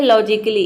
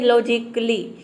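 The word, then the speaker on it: logically: तो वह वहाँ पे हम ए को प्रोनाउंस नहीं करते हैं। नेक्स्ट एग्जाम्पल है लॉजिकली। इसमें भी देखिए लॉजिकली, यानी कि हम ए को प्रोनाउंस नहीं कर रहे हैं।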